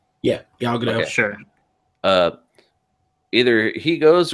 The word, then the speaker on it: Gal Gadot: Am I pronouncing her name right? Yeah, Gal Gadot.